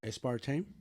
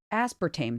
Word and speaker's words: aspartame: a save okay well look this was an a-spart team right aspartame aspartame that's what I just said a-s-s-p-r-t-a-y-m that's aspartame